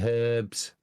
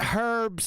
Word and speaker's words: herbs: It's not herbs. It's herbs. The H is silent for goodness sakes.